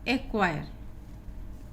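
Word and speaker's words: acquire: यहाँ पे जो क्यू दिया था, ये दोनों एग्जाम्पल आपके क्यू के आए हुए हैं। AQUIT, एक्विट, और ये है आपका एक्वायर।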